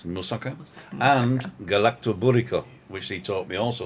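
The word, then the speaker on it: galaktoboureko: And galactoburico, which he taught me also to pronounce, because we always called it a galactic burrito, didn't we?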